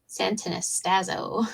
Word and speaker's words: Santanastazo: Do you know how to say his last name? Santanastazo. Yes. Yeah, you got it.